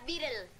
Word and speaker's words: Beatle: Se pronuncia Beatle.